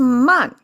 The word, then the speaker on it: 漫: Pronounce as man again, and it means overflow.